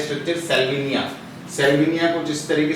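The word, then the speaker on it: Salvinia: सेल्विनिया pronunciation सही करना है। क्या है स्ट्रक्चर? सेल्विनिया।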